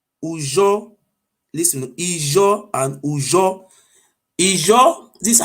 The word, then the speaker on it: Ijo: Ijo, this is how pronounce it, not how they call it Ijo.